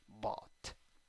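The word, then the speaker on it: bought: Se escribe con O y U. La pronunciación solo con O. Y esa G, H y T desaparece la G y la H y te quedas con la T. Bot.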